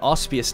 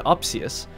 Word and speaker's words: Opsius: His name was Opsius, but I was saying it wrong for the first couple episodes. And then when I looked to name this system after him, I saw that we were saying it wrong all along.